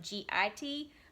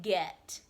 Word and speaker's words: get: next word family um a lot of times in texas we say get like get your things and if we sounded that word out it would be it like g-i-t but that's not how you spell it if we were saying the word correctly in texas we would be saying get get with a short e sound get get i'm totally